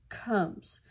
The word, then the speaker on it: comes: Again, you hear that comes. It's spelled with an O, but it sounds like sounds like a U.